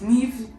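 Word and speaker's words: Niamh: Or N-I-M-H. Neve. You know that one is Neve, and you know that other one is Siobhan.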